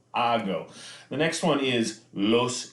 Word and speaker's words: hago: is yo go again pronunciation that H disappears that H sound disappears yo hago the next one is